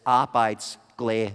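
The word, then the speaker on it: arbejdsglæde: means work happiness if you're wondering how to pronounce it goes like this I bites glay there now what's kind of cool is that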